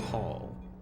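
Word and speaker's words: Haal: Written H-A-A-L, but pronounced Hall.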